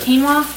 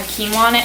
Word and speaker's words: quinoa: pouch raspberry that had quinoa in it, and she didn't know how to pronounce it, so she called it quino. She was like, it has peaches, mangoes, and quino.